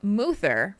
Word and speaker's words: Moother: From Moother, pronounced like Uther, as in Uther the Lightbringer from WoW lore, Rhett Paladin from Synthetic Guild Area 52 server.